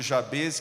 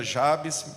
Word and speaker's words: Jabez: Eu vou aqui acabar pronunciando Jabez, que eu estou mais acostumado, mas alguns também pronunciam Jabes.